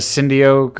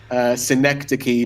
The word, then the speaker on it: Synecdoche, New York: Oh, is that Cindy Oak, or I don't know how to pronounce it? New York? I'm going to yell it because I've remembered, because you've told me. It's Synecdoche, New York.